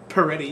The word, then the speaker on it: Peretti: Peretti. Oh, did I say it right? Oh, Peretti, yeah.